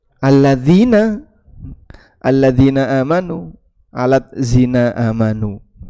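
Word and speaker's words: الذين: Sehingga ada kalimat alladzina dibuat transliterasi alat zina ini nggih bacanya alat zina ini dz tapi dibaca terpisah alat zina padahal aslinya alladzina alladzina amanu alat zina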